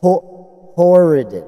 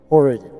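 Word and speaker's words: Horodon: Horadin The Orian guy? Diorian. Warden Diorian. There we go. Diorian. I'm Horadin, like, well, Gordon Diorian. Horadin. Gordon H-O-R-O-D-O-N. Horadin.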